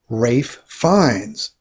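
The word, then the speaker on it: Ralph Fiennes: pronounce these names correctly at the top left we have rafe fines different than it looks right next we have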